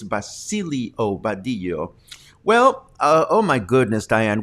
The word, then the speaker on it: Basilio Badillo: It's not Basilo Badillo, it's Basilio Badillo.